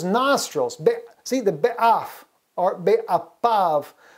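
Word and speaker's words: באפיו: See, the be'af or be'apav. We pronounce it with a P sound there, but af is the nose.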